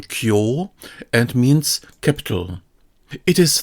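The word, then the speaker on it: 京: This one has the pronunciation kyo and means capital.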